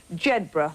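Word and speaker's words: Jedburgh: Selkirk down there and jedra which a lot of the tourists pronounce incorrectly but we're going to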